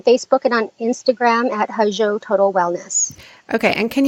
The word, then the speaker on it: Hozho: They can connect with us on Facebook and on Instagram at Hajo Total Wellness. Okay. And can you spell it?